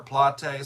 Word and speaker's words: Plate: Yeah, I actually looked it up because that's in Buenos Aires, Argentina, and I wanted to know, do they pronounce it like plate or plot or plate?